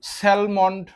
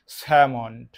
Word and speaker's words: Salmond: অনেকে উচ্চারণ স্যালমন্ড করেন, কিন্তু এটির গ্রহণযোগ্য উচ্চারণ হচ্ছে স্যামন্ড।